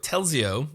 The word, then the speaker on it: Telzi: it already now okay now Peter's here with telio I pronounce that correctly that's right yeah all right